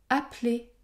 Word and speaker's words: appeler: exemple dans les mots appeler je prononce un seul p essai essai je prononce